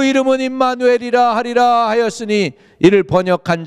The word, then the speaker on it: 임마누엘: 예수님의 이름이 예슈아, 그 다음에 또 다른 한 이름이 있는데 임마누엘. 임마누엘. 우리나라 발음은 진짜 헬라 발음하고 너무너무 가까워요.